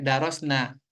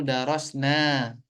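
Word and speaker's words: درسنا: menggunakannya bukan untuk nahnu kalau dibaca pendek misalnya tadi dibaca misalnya bacanya darosna Nah itu sebetulnya salah nahnu darosna tapi yang benar nahnu darosna nahnu qorana wa katabna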